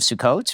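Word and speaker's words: Sukkot: sit the say sukot spell it because I've seen it s u k k o t yeah the KK I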